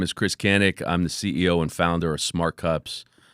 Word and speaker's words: Kanik: Today, my guest is Chris Kanik. Did I say it right? No, you said it wrong. Fuck. No one says it right. It's Kanik. Kanik.